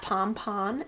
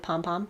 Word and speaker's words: pom-pon: and a pom-pom poncho do you know that pom-pon is actually the correct way to say pom-pom like that's how it started out pom-pon and then we decided pom-pom sounded better i guess i don't